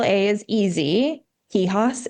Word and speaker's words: Quijas: Kihos is not easy. Q U I J A S on LinkedIn.